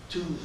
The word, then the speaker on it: Tews: And he always used to say, "It's Tews that rhymes with booze."